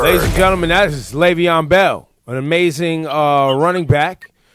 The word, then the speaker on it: Le'Veon: Le'Veon.